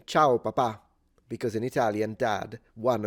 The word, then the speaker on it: papà: But the stress is at the end, P-A-P-A with an accent. But she always says, ciao papa, and she stresses it at the beginning. And it's funny because that means Pope. So she's literally saying, hello, Pope, every time.